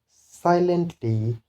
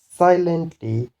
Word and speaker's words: silently: Then the rule for three syllabic words or three syllable words, those words which end in er or ly, then the stress will be on first syllable, such as manager, manager, silently, silently.